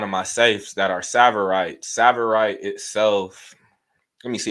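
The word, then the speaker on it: tsavorite: me for Kenya um savorite is spelled t s a b o r i t savorite cost sa cost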